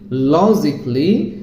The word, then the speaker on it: logically: Kelly, it should be cli, that means romantically, musically, logically, artistically, physically, critically.